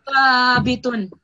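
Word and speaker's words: ثابتٌ: So your tongue should be coming slightly out of your mouth, and it should be touching your upper teeth when you say this word. So letter. So thabitun.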